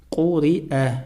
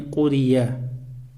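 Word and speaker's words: قُرِئَ: Я вообще не произносится, а произносится хамза, которая стоит над буквой я. А над хамзой стоит фатха, читается как алиф а. Кури-а, а не курия.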